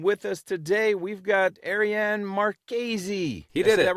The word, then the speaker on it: Ariane Marchese: And with us today, we've got Arianne Marqueesy.